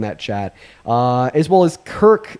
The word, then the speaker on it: Kirc: As well as Kirk, that's spelled Kirc, not Kirk.